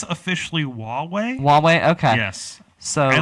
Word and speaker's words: Huawei: I think it's officially Huawei.